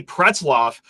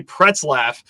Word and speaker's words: Pretzlaff: 4-star linebacker Brady Pretzloff, who actually I just learned before we started recording. Brady, I've been pronouncing your last name wrong for the last 2 months here. I've been saying Brady Pretzlaff like some stooge.